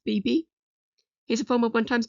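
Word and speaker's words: B×B: Next, we have BB Hawk. Yes, his name is pronounced BB.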